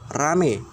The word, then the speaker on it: ramai: diyakini mendapat proses monofotongisasi, yaitu kata ramai. Ini sering diucapkan menjadi kata rame dengan bunyi vokal rangkap AI yang mengalami perubahan menjadi vokal tunggal E.